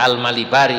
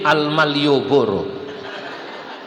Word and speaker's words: Almalibari: Dalam kitab Nadam Hidayatul Azkiya, Syekh Zainuddin Almalibari ini bacanya Almalibari ini wonten santri bacanya karena enggak diharati salah. Syekh Zainuddin Almaliyoboro.